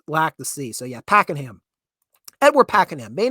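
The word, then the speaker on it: Pakenham: how do we it it's weird how it's spelled compared to how you want to pronounce it so I've seen people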